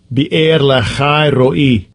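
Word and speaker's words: Beer-lahai-roi: Wherefore the well was called Beer Laharoy, or Beer Laharoy. Behold, it is between Kadesh and Bered. Let's see if I pronounced that right. Strong's H 883. Be'er lachai ro'i.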